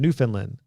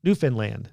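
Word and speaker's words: Newfoundland: Lynn so it RH it rhymes with understand New Finland New Finland New Finland is that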